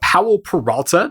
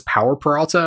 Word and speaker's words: Powell Peralta: I was mispronouncing it as Power Peralta a bunch of times, thinking that it was like Jake Peralta, but I think this is actually a person's name, so I'm going to